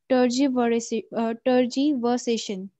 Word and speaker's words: tergiversation: And its pronunciation is tergiversation.